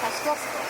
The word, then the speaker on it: Kościuszko: There is a bridge in New York, and I think Brooklyn and 50s, named after there is Kościuszko, which we pronounce like Kosciuszko. Kosciuszko, yes.